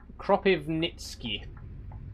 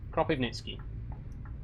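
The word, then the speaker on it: Kropyvnytskyi: I'm very bad at pronouncing Russian and Ukrainian place names. We're in Cropiv Nitzki. Cropiv Nitzki. That's not too bad. It's just all the wise threw me a little bit.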